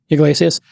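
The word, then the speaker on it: Yglesias: this week there is a journalist named Matt Iglesias is that is how you pronounce his name yeah Iglesias and he said I mean he literally said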